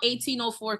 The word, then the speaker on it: 180H4: you named it so it's called 1804 Cuisine so it's 1 180 H4 Cuisine the reason why I